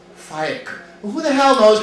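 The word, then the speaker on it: Faiq: Pakistani name, it's pronounced Faik. Well, who the hell knows how to pronounce Faik? It looks like the word fake.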